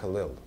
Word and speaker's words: Ellul: Jacques Ellul, E-L-L-U-L-E-S. It's French name. Ellul is the way you pronounce it.